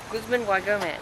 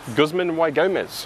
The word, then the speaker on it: Guzman y Gomez: Guzman Y Gomez. Guzman Y Gomez, as Sally has correctly pronounced me.